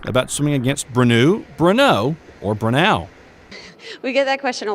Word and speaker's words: Brenau: For the record, it's pronounced Brenau, and they're the ones